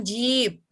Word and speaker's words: jeep: Jeep. I-nya panjang, jeep.